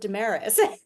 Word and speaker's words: Desmarais: It seems silly to say like, "Well, actually, no, we pronounce it Damaris."